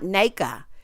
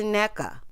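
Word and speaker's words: Nneka: corrected jezelle and said girl my name's not NAA it's a NECA okay please correct these people cuz I think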